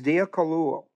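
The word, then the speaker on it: διακωλύω: Kaluo is dia kaluo.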